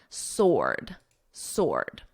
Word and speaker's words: sword: Now, sword, notice the W is totally silent. Ord, or, sword.